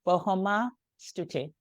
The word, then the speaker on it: Bohoma Stuti: Bahoma Tuti or Stu? S. It's an E. Bahoma Estuti. Yeah, yeah, okay. You don't have to pronounce the E as much. Try to just not pronounce the E as much. So Stuti, The E is silent.